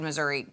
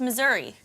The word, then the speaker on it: Missouri: Do I mispronounce it? No, it's Missouri. Well, she kept calling it Missouri the whole telecast, and so now I feel like I don't know how to pronounce it.